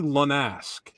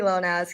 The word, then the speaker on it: Lonas: Uh, and I mean that in the nicest way possible, Lexi Lass, is that am I saying it right? Yeah, Lexi Lonas. Yep.